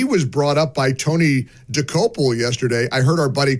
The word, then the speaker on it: Dokoupil: I heard our buddy Chris DeGaulle this morning call him Tony Docapoli. I don't know if he made that, if that was accidental. It's kind of a hard name to pronounce. It is. There's some Czechoslovakian lineage there. It's DeCopoli.